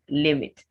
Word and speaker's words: limit: z then there is limit limit what another verb that's what is like challenge it's stressed on its first syllable so you say limit don't limit yourself the